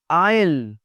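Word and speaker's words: aisle: आयल, आयल जो रास्ता बना होता है हवाई जहाज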